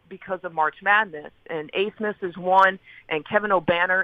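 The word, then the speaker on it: Abmas: Well, they have two studs on their team, Max Asmus, and it is pronounced Asmus.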